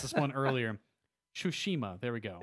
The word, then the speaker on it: Tsushima: Tsushima, there we go. Is there really a first H in there? Yes. Okay. Tsushima.